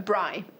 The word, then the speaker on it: braai: A braai.